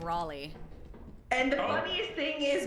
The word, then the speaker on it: Raleigh: Oh, No, you guys are missing the fact that she said Riley instead of Raleigh.